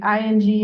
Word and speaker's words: Ng: how to pronounce that her Twitter handle is literally pronounced in like in and all caps because everybody gets wrong but it is it's in um so arm missing Hearts